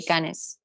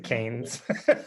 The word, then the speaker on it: Cannes: How do you say Cannes? Cannes Festival, Marché du Films Festival in Paris, in France. Not as beautiful as that. I usually say canes. Canes. Okay, like dogs.